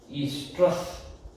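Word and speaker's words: oestrus: ईस्ट्रस, ई तो भी शुरू होता, ओ तो भी होता, वो साइलेंट होता है।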